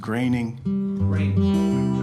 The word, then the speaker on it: Groening: And sorry, Matt, we know your name is pronounced Groening, but that's okay.